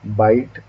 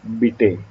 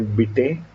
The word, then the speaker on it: Bite: times it happens that people pronounce my name as vishwanath bite or by day or something like that because it sounds like it spells like bite right bipe but it's beta so in moodle there